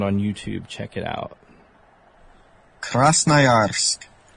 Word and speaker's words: Krasnoyarsk: Since I'm going to mispronounce the city, here is a pronunciation I found on YouTube. Check it out. Krasnoyarsk. Krasnoyarsk. Krasnoyarsk.